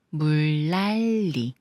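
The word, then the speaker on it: 물난리: 보죠 물로 생긴 난리 물 랄리 리과 만난 니은이아서 리을로 니은 리을이 만났으니까이 니은 리을로 그래서 물랄리 물랄리 길을 보는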